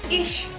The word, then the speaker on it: ich: Tapi ada juga yang dibacanya sh gitu. Contohnya adalah ish. Ish. Nah, ish itu ICH. Nah, CH yang berdampingan itu bukan ih dibacanya, tapi ish.